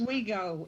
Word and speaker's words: Oswego: Ladies and gentlemen, Lake Oswego, or Oswego? Is that how it's pronounced? Oswego, yes. Oswego.